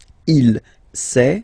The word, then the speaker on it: il sait: Il sait. Final T not pronounced.